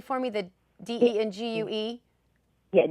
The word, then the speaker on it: dengue: heard the word said out loud can you pronounce that correctly for me the d-e-n-g-u-e yeah dengue dengue fever okay so i guess that was